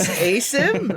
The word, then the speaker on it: Asim: but it's Asim. Oh my God, hold No. on, I'm confused now. So it's Arabic. It's is the way it's pronounced.